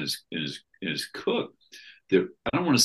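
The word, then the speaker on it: Coke: and and students spelled c ke but it's pronounced cook uh in the in the 17th century and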